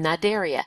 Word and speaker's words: Cnidaria: would be the phm nideria notice the word is spelled with a c in the front but we don't pronounce the C uh this includes jellyfish